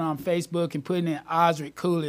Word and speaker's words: Osric: Facebook and putting in Osric Cooley. It's spelled Oz, like the Wizard of Oz, and then Rick. Osric Cooley.